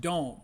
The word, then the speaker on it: Dohm: One of the guys we hadn't talked a lot about is Nate Dohm. Now, it's spelled Dom, D-O-H-M, but it's pronounced Dome, as in, the Minneapolis Metrodome.